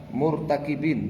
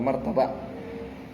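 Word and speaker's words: مرتكبين: Ya, murtakibin bacanya ya, murtakib. Ya, bukan martaba.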